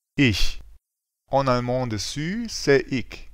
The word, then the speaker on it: ich: Une prononciation qui vient après A, O, U, AO se prononce R. C'est un bruit de gauche. Par exemple, Ach. Auch. Doch. pour toutes les autres combinaisons, c'est ch. Par exemple, Ich. Euch. Echt.